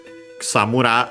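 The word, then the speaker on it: くさむら: Accent on the last mora.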